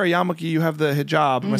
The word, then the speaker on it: hijab: like you wear a yamaki you have the hijab am I saying it right yes hijab yeah um if people think it's conservative because